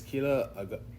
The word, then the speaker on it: Keella: It's easy when people, I'm like, oh, my name is Keella. They're like, what? I'm like tequila.